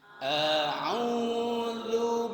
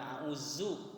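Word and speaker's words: أعوذ: A'udzu billahi minasy syaithanir rajim. Baik, perhatikan ketika baca ta'awuz, dibacanya a'udzu. Bukan zu ya, bukan auzu, tapi a'udzu. Ujung lidahnya ketemu dengan ujung gigi seri atas.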